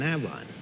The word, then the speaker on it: Avon: How do you pronounce it? Avon.